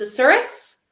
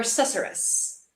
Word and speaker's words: susurrus: It can either be pronounced susurrus or susurrus. I prefer susurrus because it sounds more like the susurrus.